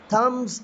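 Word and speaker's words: thumbs: Asim gave Azlan a थम्स अप। अब यहाँ पे मैंने बी को साइलेंट कर दिया, आपने देखा है कि बी को मैंने जो है ना यहाँ पे बयान नहीं किया।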